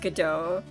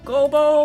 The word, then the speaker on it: Godot: Okay, it is pronounced Godot. Well then, Prosecutor Gobo or whatever, it's not Gobo, it's Godot.